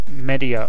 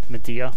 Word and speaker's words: Medea: He does have Medea over here, or Medea, depends how you want to pronounce it.